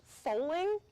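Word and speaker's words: Fowling: There's going to be a few speakers, and then I'm told it's pronounced foaling at the end, and it's like bowling but with football.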